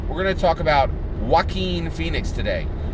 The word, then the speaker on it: Joaquin: Okay, we're going to talk about Joaquin Phoenix today. I had gotten that pronunciation wrong. I had said Joaquin, right? And it is correctly pronounced Joaquin, right?